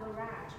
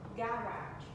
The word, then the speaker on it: garage: Từ này có tận 3 cách đọc các bạn. Cái từ garage để ô tô ấy, anh nghĩ nó sẽ là garage, anh nó là garage, okay, hoặc là garage, garage, oh yeah, or garage, modern, okay, look, window,